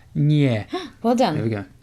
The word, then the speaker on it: nie: And no is nie. Nie. Nie. What am I doing wrong? It's softened. The N is softened by the I. So it's nie.